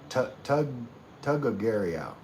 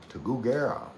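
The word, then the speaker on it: Tuguegarao: See, you just wanted me to try and say Tagagario. Tagugarao. Sometimes my pronunciation is terrible.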